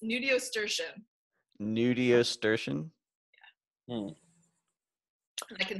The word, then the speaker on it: nudiustertian: It's Nudiustertian. Nudiustertian? Yeah. Hmm. I can there spell are it. A lot of pieces to that word. Yeah, it's Nudiustertian.